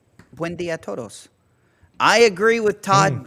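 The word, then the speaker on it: Buen día: It's Buen dia. Buen dia todos.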